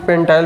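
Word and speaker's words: pentyl: बोलो, अब ध्यान दो, पेंटिल या इसी को कोई प्रोनाउंसिएशन है, कोई पेंटाइल भी बोल देते हैं, कोई दिक्कत नहीं है। पेंटिल बोलिए, पेंटाइल बोलिए।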